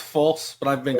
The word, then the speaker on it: Fulce: It's Fulce, yes? It's pronounced false, but I've been called far worse by many people in the political world.